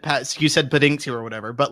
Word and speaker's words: Paddington: now, he mispronounced Paddington and he said Pendington.